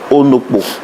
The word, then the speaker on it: Onokpo: Je pense que juste à côté, c'est votre père, monsieur Onokpo. Shalom. Vous allez bien? Oui, J'ai bien prononcé votre nom? oui, c'est bien, c'est ça.